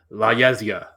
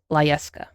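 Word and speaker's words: La Yesca: It's La Yezga. Say it right. La Yezia. Not La Yezga. La Yezka. La Yeska.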